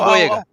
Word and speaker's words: Boyega: But I thought John Biol, I can have a hard time pronouncing his last name, Boya. Favreau. Oh, Oh boy! Oh boy! John Boyega.